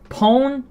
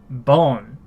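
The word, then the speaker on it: 本: to an extent, as hon. Hon. Which by itself means book. This is the kanji for book. We pronounce this 3 different ways, mind you. Hon, pon, bon.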